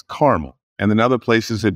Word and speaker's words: Carmel: I'm from Indianapolis and there's Carmel Indiana and a lot of people go Carmel like no it's caramel and in other places